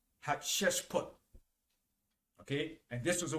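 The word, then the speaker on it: Hatshepsut: egypt she reserved that uh position her name is spelled h a t s h e p u t hat chest put okay and this was the one that found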